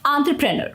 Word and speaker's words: entrepreneur: Entrepreneur. Okay? Entrepreneur. So when you put it all together, it sounds like entrepreneur. Remember to stress the on syllable, and the rest of the syllables should flow smoothly.